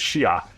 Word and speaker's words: Shia: So I was raised as a Muslim as a Shiite Muslim. And the proper way to say that is Shia.